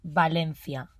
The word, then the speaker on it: Valencia: of spain they see is so you will pronounce valencia yeah and the first letter it's not v